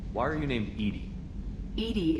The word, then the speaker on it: EDI: are you named Eenie Edie is the phonetic pronunciation of EDI that is an acronym